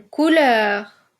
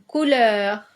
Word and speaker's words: couleur: le son e ouvert une couleur une couleur oui pareil c'est un e ouvert je dis je dis